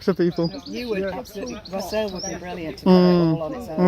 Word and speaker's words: wassail: Wassail would be brilliant to cover it all on its own. Yeah, that's right. Incredibly good fun. And if the weather's good enough, they take the wassails to the Procession through, orchard.